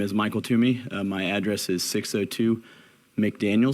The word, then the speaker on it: Twomey: It's pronounced Toomey, like toss it to me. Please give us your name and address, and then you can start. My name is Michael Toomey.